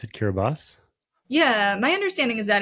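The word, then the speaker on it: Kiribati: Then on to Kiraabati or as I've heard you pronounce it, Kiraabas. Yeah, my understanding is that in locally, you know, the TI at the end of the word is pronounced as an S. Kirabas.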